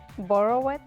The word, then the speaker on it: borrowed: Borrowed. Borrowed. Okay, borrowed. No extra syllable.